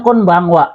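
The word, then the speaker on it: こんばんは: Oke, selanjutnya konbanwa ya. Konbanwa di sini sama juga ya, adalah wa-nya ini adalah partikel sama dengan kalimat konnichiwa, hanya saja diganti dengan konbangnya aja ya. Jadi kalimatnya asal usulnya adalah konbanwa gokigen ikaga desu ka.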